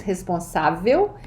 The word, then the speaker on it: responsável: Eu sou extrovertida, responsável, notice the acento agudo, this is where the stress syllable is, responsável, e otimista.